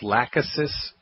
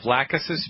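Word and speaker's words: Lachesis: a little peculiar of the word it's called lausus mutus you spell that L Like Larry a c like Charlie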